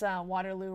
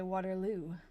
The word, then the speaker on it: Waterloo: I know I pronounce Waterloo wrong too. They say Waterloo.